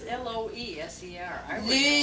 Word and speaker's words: Loeser: Loser, in German it's Loser. L-O with the umlaut over. Loser. And you change it to an E in America, L-O-E-S-E-R, but there's L-O with the umlaut S-E-R, loser.